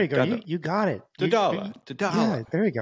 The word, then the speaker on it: Doddala: Doddala. Yeah, there you go. It's like Kamala. Doddala. It's Doddala. Doddala. Same phonetics.